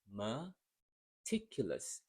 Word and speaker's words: meticulous: that in another video so here meticulous same Rhythm one maticulous three and then the stress syllable is in the second sound so you can start